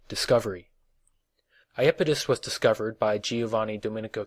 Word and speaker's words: Iapetus: Iapetus, sometimes pronounced Iapetus, is the third largest moon of Saturn and 11th largest moon in the solar system.